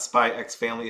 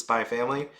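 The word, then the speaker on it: SPY×FAMILY: You don't pronounce the X at all, so it's not Spy X Family, it's just Spy Family.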